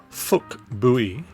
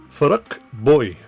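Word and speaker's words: Phuc Bui: perspective so why does a name that looks like p h u c Bui seem to have an english- looking pronunciation of of fuk buy actually get pronounced by differing YouTube videos as F boy well I and everybody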